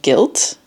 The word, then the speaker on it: Gylt: I'm playing like this really cool game called Guilt. It's spelled Gylt.